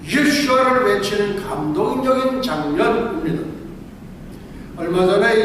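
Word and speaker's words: ישוע: 7만 명의 이집트 기독교인들이 유명한 동굴교회에 함께 모여서 10분간 예수님의 히브리어 발음인 예수와를 외치는 감동적인 장면입니다.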